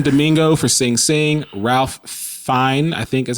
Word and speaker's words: Fiennes: Ralph Fiennes, I think is how you say his name. Fiennes.